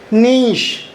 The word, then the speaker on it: niche: NICHE, इसे आप क्या बोलेंगे? नीश, NICHE। बहुत सारे लोग इसे नीच पढ़ेंगे, लेकिन ये हो गया नीश।